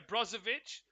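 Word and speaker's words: Brozović: Yeah, Brozovic.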